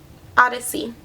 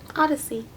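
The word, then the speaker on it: Odysea: This is in the color Odyssey, which is spelled really cute. It's spelled O-D-Y, captions, S-E-A, Odyssey. O-D-Y-S-E-A, Odyssey.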